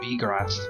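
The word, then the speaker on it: Wiegraf: is actually deleta and we graph has a kind of german pronunciation sounding more like b graph and so on i've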